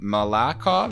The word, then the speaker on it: Malakhov: And Alexei, I'm going to try to pronounce his last name, Malakhov. Is that right? Yep.